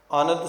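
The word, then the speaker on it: ਅਨੰਦ: भी बंद नहीं ी अनंद सुनो वडभाग हो सगल मनोरथ पूरे भाव इसका आनंद है पर उच्चारण इसका अनंद है क्योंकि ऊपर टिप्पी नहीं लगी हुई नने दे पातशाह जी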